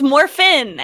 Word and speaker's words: Morphin: when you get your morphin suit and you become a Power Ranger, you're like unstoppable. It was morphin amazing. Suit? Why she say it like that? Because it's morphin. There's no G.